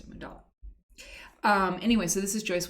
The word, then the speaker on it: Mandala: And I said Mandala, and I believe it was Sohani who said, it's pronounced Mundala, so I pronounced it Mundala.